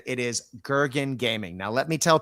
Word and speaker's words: Gergen: Right now, if folks are wanting to see your page, it, as I said, it is Gurgen Gaming. Now, let me tell people how to spell that if you're listening to the audio show.